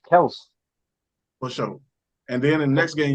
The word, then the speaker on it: Kelce: And then the next game, how they pronounce it. It's Kels.